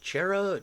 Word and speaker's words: Cherryh: Is it Cherryh, Cherish, or... Yeah. So it's pronounced Cherry.